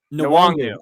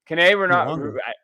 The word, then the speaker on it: Nwangwu: Nwangwu. Yeah. Nwangu. I think Nwangu, right?